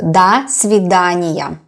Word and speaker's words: до свидания: Da, even if you see O here, it is pronounced as A when it is not stressed. So до свидания.